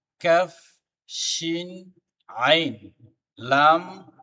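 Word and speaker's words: ق: আবারও পড়ি আমরা: বা, জিম, খ, সদ, মিম, হা, কাফ, শিন, আইন, লাম, বা, গাইন, কাফ, কফ, সিন, হা, তা, মিম। আবার কাফ, কফ, সিন, হা, তা, মিম। প্রত্যেকটা হরফ সঠিকভাবে সুন্দরভাবে তার মাখরাজ থেকে উচ্চারণ করতে হবে, তাহলে পড়াটা সহি হবে।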